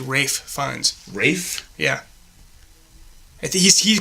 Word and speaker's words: Ralph Fiennes: Is it Rafe Fiennes or Ralph? It's Rafe. What? I think it's Rafe Fiennes. Rafe? Yeah. I think he pronounces it like an idiot. It's R-A-L-P-H, but I think it's Rafe Fiennes.